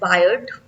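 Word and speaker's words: Baird: का किसने किया था बी ए आई आर डी आई वी can pronounce it एस बायर्ड ठीक है बायर ने तो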